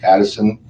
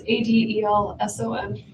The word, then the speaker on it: Adelson: Okay, I, Wendy Addison, and I gotta change this. Adelson. I know, I gotta change that. It's okay. It's Adelson. Actually, it's spelled right. I've said it wrong.